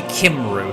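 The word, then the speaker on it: Cymru: it's supposed to be cummery but it's serene kimroo so i pronounce it kimbrough kim ghost so kim ru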